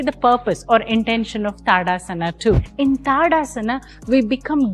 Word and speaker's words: Tadasana: called tadasana or tadasana or tadasana the right pronunciation is tadasana tadasana is similar to samasthiti both of them